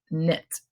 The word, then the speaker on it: knit: needles you knit knit the K is silent it's not commit it's knit how about this one